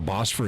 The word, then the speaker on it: Bosphorus: Earth so did I did I pronounce that right Bosphorus the Bosphorus is the boss for a straight is that what they call it the boss for a straight I'll find out here he says yes I did boss for